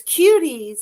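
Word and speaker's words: Kuties: So it's Cuties. It's just a different spelling. It's just spelled with a K instead of a C.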